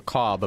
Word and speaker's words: Kaub: This is called the KAUB map, but in German, I'm pretty sure it's pronounced Ka. The B is silent.